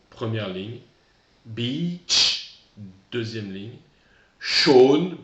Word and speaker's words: Sean: Sean, pronom qui se prononce bizarrement, prénom d'origine irlandaise. Sean, première ligne.